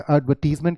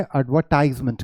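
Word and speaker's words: advertisement: British English में एडवर्टीजमेंट कहते हैं और अमेरिकन इंग्लिश में एडवर्टाइजमेंट कहते हैं, राइट।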